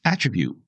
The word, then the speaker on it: attribute: word is attribute so as a noun it's attribute the accent is on the first syllable where you put it for a noun as a verb you